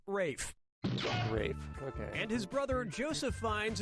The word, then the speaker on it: Ralph: yourself yep ray Fiennes first name is spelled like Ralph but pronounced Rafe and his brother Joseph